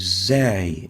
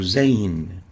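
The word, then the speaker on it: ز: the next letter is zay or zain zain looks like this and it is equivalent to the english z or zed it's pronounced as as in is it articulates between the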